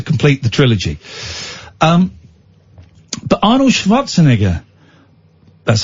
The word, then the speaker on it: Schwarzenegger: But Arnold Schwarzenegger, that's how you say it, pops up.